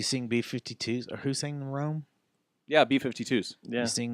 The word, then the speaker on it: Rhome: So it's Pronounced like Rom. I've been saying Rome all this time.